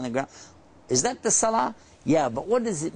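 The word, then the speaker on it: صلاة: called The Silent te if you stop you don't pronounce it it sounds kind of like an H at the end Salah a little at the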